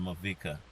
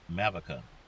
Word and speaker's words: Mavica: he pronounced it in movika and it's mavica it's america america yeah anyway i think